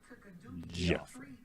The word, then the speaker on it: Geoffrey: And my name is spelled Geoffrey. Joffrey. Geoffrey. Geoffrey. With a hard G. Geoffrey.